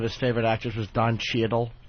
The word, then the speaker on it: Cheadle: Did I tell you that Voss one time said one of his favorite actors was Don Cheadle? He pronounced the A in Cheadle's name.